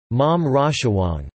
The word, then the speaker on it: หม่อมราชวงศ์: children of male mom Chou the title is pronounced mom Raja Wong informally they may be styled as Khun chai